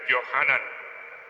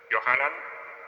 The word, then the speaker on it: Yohanan: El nombre de Juan, por ejemplo, el original es Yohanan. Yohanan, Juan.